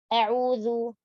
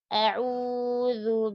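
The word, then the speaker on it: أعوذ: Jangan mengganti zalnya menjadi dal, a'udhu. Atau jadi sa, a'udhu. Atau a'udhu, jadi dha. Atau a'udhu, jadi za. Ya. Jadi a'udhu, huruf zal, ujung lidah menyentuh ujung gigi seri atas.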